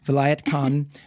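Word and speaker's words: Vilayat Khan: specifically about this artist you're gonna have to pronounce his name again what's his name Vinayak Khan Vilayet Khan who is a classical sitar player so the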